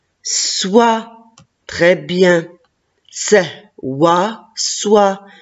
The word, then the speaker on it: soie: Soit, très bien. C'est, wa, soit, et à la fin, la lettre E, je ne la prononce pas.